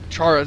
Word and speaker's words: Chaurus: How do you pronounce that word? Sack? No. No. Those egg sacs. What is that creature called? Chaurus? Chaurus.